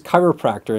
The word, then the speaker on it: chiropractor: And once again, do we pronounce the H? No. Is the I sound like your I? Yes.